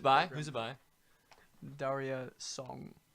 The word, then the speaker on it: Daria Song: Daria Song. How do you, and it's spelled DARIASONG Like diarrhea. minus many letters.